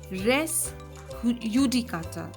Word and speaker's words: res judicata: res Judy cutter now in Latin you would say res yudicata because in in many European countries when you spell J it is pronounced as yep so it becomes rest udicata rest in Latin always